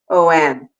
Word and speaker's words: om: So by even doing a few of those OM, but a long O and a long M, you'll even feel your lips vibrating and your throat and your cheeks moves the energy.